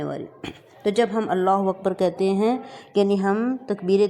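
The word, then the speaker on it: أكبر: لفظ ہے ہمارے پاس، کیونکہ یہاں پہ باریک کاف ہے تو ہم اس کو اکبر، را کو موٹا، تو یہ بن گیا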